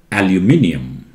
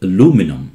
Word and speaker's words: aluminium: you have seen before british call it aluminium aluminium americans call it aluminum and this i is missing in america okay how about this